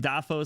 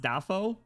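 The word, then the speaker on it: Dafoe: Is it not pronounced Dafo? It's Will. Oh, whoops. Defor Defoe.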